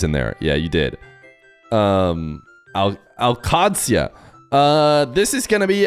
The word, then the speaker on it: Al-Qadsia: What do you think of the Al Qaedasaya? I'll never say it right. I think you might have misspelled it though, in my defense. I think you added extra I's in there. Yeah, you did. Al-Qadsia.